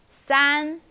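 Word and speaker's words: 三: er falling tongue okay number three san san which tone is it yes it's high flattened san san san okay number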